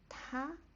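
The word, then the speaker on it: 她: And let's write the she or her, the pronunciation is also ta, but it's just Can you notice the difference?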